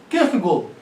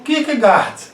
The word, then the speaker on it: Kierkegaard: meses de idade eu me refiro a sor Kirk go e aqui eu tenho de fazer uma ressalva